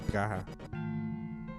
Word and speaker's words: Praha: Yeah, technically it's Praha. Like Saha.